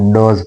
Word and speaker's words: does: Verb इसका डू और डज है। डू और डज, कुछ लोग इसको डोज पढ़ते हैं, ये डोज नहीं है। The correct pronunciation of the word DOES, डज, डज है।